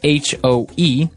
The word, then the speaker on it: hoe: It's H-O-E, and it's pronounced hoe.